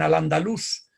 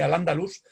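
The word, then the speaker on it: al-Andalus: y se desarrolló en al andalus insisto en la acentuación sobre la 'u' porque parece que se pronunciaba así a pesar de que tradicionalmente se dice al andaluz raramente raramente se ha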